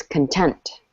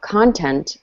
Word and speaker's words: content: So this word can be pronounced content, but when we're talking about the adjective, it's content. Content. Good. The emphasis is on tent. If we talk about content, that's actually referring to the noun.